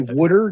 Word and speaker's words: wooder: a whole different story so it's actually wooder w o u d r it sounds like it's spelled um they tried really too